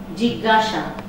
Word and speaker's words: জিজ্ঞাসা: জিজ্ঞাসা, উচ্চারণটা হবে গ গ, নাকের মতো বা জ্ঞান মতো।